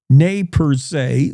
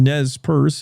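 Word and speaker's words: Nez Perce: 1877 elements of the first and second cavalry unsuccessfully engaged the nayers or the nez purse if you prefer that pronunciation near Kas Creek Idaho.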